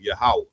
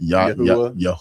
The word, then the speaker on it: Yahweh: That's the proper way to say the Lord's name, Yahweh. Right. Not Yahweh, not Yaakov. What is it saying? Yahuwah.